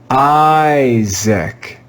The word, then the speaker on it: Isaac: so this letter i is going to be read with the long i sound i let's read this word together isaac isaac isaac isaac look